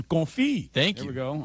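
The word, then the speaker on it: confit: Bam for your pronunciation. Confi.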